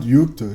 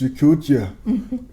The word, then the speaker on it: Yakutia: Bruh, it's not Yukta, it's Yakutia.